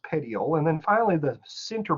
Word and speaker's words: petiole: petiole is the leaf stem right here it's pronounced petiole and then finally the center portion here is